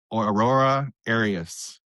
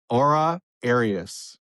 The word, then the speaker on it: Aura Arias: Because you butchered my name just a little bit. Because we practice this like so many times, and then we hit record, and this is what happens. Aura Arias.